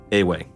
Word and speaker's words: Ewe: uh so we pronoun it is spelled ewe yeah but it's uh a way yeah and we have